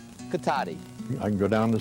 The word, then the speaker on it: Cotati: when passengers got off, they called it Cotate. That's because the town was spelled with an E. But that so infuriated some city fathers, they decided to change the spelling to end in I, so they would pronounce it Cotati.